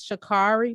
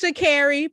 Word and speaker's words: Shakiri: her name wrong because you can look at her name and think it's shikari but she was like it's shakiri period anyway i just want